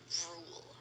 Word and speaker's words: Ruel: Yung spelling ng Rule ni Rule, Ruel. R-U-E-L. Ruel. Ganun. Pero it's pronounced as Rule.